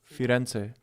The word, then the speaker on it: Firenze: Isn't it Fior? No, Firenze.